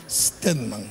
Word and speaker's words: Stedman: Pero Stedman no se escribe con la E, es Stedman.